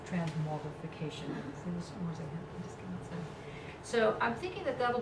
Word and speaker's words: transmogrification: It'll be part of this whole transmortification, transmogrifying. How do you say that? Transmogrification. Yes, transmogrification.